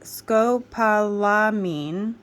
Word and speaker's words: scopolamine: serums here they are here we go okay Scopolamine scopolamine hydrobromide first word pronounced skopalamine also known by another name hyosine hydrobromide it